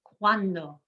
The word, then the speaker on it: cuando: the second to last the u and the a in cuando work together cuando one one syllable there in the first part one syllable at the end we emphasize the second to last cuando and ma rio the